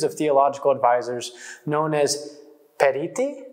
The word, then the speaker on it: periti: theological advisors known as periti is that how you pronounce that dance that's right parenting the singular will